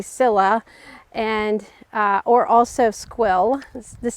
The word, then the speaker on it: Scilla: This next one I got is your typical Scilla or Skilla, depending on where you're from. I think in other countries they pronounce it Skilla. We usually say Scilla, and or also squill.